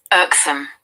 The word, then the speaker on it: irksome: Irksome. Irksome. R is silent and there is R, long R.